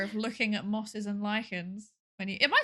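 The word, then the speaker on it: lichens: Are you an enjoyer of looking at mosses and lychans when you Am I saying it right?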